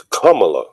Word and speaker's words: Kamala: I thought it was Kamala. He said it wrong. Yeah, one lady told me how to pronounce it was like comma with a la.